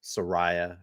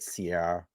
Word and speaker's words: Soraya: now I apologize I I pronounced her name incorrectly Soraya I said Sierra I I apologize about